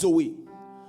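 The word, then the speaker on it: ζωή: Il se prononce Zoé.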